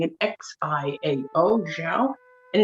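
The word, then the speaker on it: 箫: David did a very good job pronouncing it, Xiao, Xiao.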